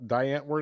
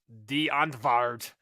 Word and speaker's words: Die Antwoord: I won't bring up Diane word ever again. And then I've gotten like comments like it's pronounced Die Antwoord.